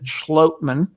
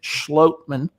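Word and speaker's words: Schlottmann: your own one of your denver broncos austin schlotman and that is how it's pronounced per the demo broncos media guide well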